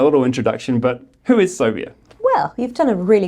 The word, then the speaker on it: Sobia: elephant in the room soia is pronounced like how you would say phobia but I promise you